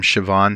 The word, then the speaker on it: Siobhan: And yes, that's how you pronounce her name, Siobhan Huggins.